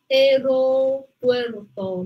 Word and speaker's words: aeropuerto: Aeropuerto, ¿no? Aeropuerto. No, tengo, no pronunciamos unidas, sino A-E. Aeropuerto.